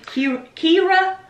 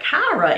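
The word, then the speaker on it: Qi'ra: Kira? I want to say they call it Kyra in the movie. I might be wrong, but I think that's the way they pronounced it.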